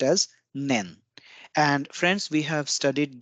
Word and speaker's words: 年: is the counter for year and it is pronounced as nen and friends we have studied this kanji character